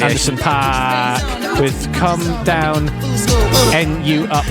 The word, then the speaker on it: Anderson .Paak: Correct pronunciation. Anderson .Paak with Come Down, NU Up and Nick Studer remix.